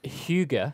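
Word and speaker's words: hygge: e little book ah that word is pronounced Huga Huga uh it is a Danish word and it doesn't have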